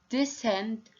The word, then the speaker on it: descent: In question number 1, scissors, scent, science, crescent, descent, and ascend.